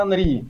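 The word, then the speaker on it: Henry: Ну как, знаешь, этот вот футболист Анри, пишется же хер, а читается Анри.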